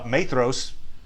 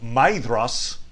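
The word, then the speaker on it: Maedhros: sons of feyenoor uh matheros uh which by the way i was i was just corrected uh on the pronunciation there was uh commenter purple hawk mentioned that actually the pronunciation should be maidros so anyway but we'll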